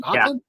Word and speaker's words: Hoechlin: trilogy, and then you see how do you pronounce his last name, Josh? Tyler Hoechlin? Is it Hoechlin?